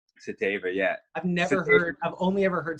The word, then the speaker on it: Satava: But it's funny because the last name's actually Czech, and Satava is actually closer to the actual pronunciation than Satava is.